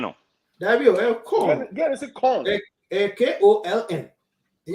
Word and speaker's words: Köln: So we are going back to corn. It's not Cologne. Those of you keep pronouncing Cologne. It's not Cologne. It's corn. You know, we don't pronounce it L.